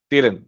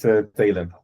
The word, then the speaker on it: Talon: Sorry, I meant Taylor. Oh yeah, sorry, that's me. Yeah. I didn't recognize the name. I'm sorry. I hope I'm pronouncing him right. Okay, my name is Talon, but it resembles each other.